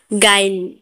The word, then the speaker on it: guile: You silent कब होता है? यू के बाद AEIOU आए तो यू साइलेंट होता है। जैसे गाइल, गाइल में GUILE, गाइल, यू के बाद आए है तो यू यहाँ पर साइलेंट है।